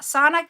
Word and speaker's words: Sana: It's not Santa. It's Sana.